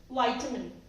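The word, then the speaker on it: vitamin: चलता आया है शुरू से, बट नहीं, इट्स विटामिन, विटामिन। सो आज हमने जाने 15 वर्ड्स जो हम मिस प्रोनाउंस कर रहे थे, लेकिन अब से हम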